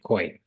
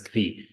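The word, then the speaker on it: כוי: Koi. Pronounce it as kvi.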